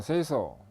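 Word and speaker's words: 清掃: OS라는 것은 정리정돈 청소 정결 습관인데, 일본어로 발음을 하면 정리는 세이리, 정돈은 세이돈, 청소는 세이소, 청결은 세이게츠, 습관어는 시쯔게, 시쯔게 이렇게 읽습니다. 그래서 OS입니다.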